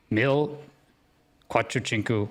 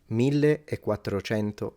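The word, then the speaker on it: millequattrocento: Mil quatrochinku metress. What? Sorry. Mil quatrochinku metress. Milleatroento metri. is how you say I mean numbers we're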